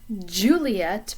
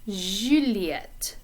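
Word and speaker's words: Juliette: sound that comes in the middle of the word pleasure or garage if you pronounce it that way so it's not juliet but juliet and it's a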